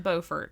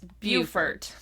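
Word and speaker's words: Beaufort: from where we live yeah and it is pronounced bfort in case anyone is wondering and South South Carolina it is bufort but up here it's bordt when I lived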